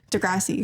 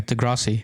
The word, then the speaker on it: Degrassi: Toronto with Degrassi yeah that's how you say it Degrassi yeah Degrassi Degrassi you're not saying it we're saying the same way Degrassi garage speaker Degrassi